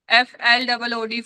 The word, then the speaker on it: flood: FLOOD. Flood F- hota hai. It is a different sound. I know. It is a flood. Flood. Okay. Somewhere its sound is silent. Flood. Like blood. Blood.